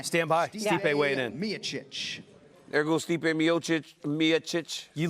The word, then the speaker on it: Miocic: So big, massive weight gain and good weight gain for Stipe Miocic. It's really an internal struggle with Miocic and Miocic. It's because it's spelled Miocic, but it's Miocic.